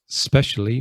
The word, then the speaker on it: especially: We have this other word, especially, more difficult to pronounce because you've got to begin with the s sound.